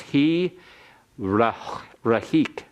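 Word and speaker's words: הִרְחִיק: That makes the schwa that follows it vocal. So it's he rahik.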